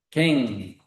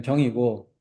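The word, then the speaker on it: 更: 갱, 다시 갱. 시간 단위로 읽을 때는 경이었죠. 시간 단위로 읽을 때는 경이고, 다시라는 두사를 쓸 때는 갱이라고 읽는 글자입니다.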